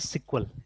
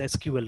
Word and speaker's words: SQL: बट आईबीएम में आज भी इसको प्रोनाउंस किया जाता है एज सिक्वल, या कोई भी बड़ी कंपनी इसको सिक्वल ही प्रोनाउंस करते हैं, they don't pronounce it एज एसक्यूएल, remember, ठीक है ना।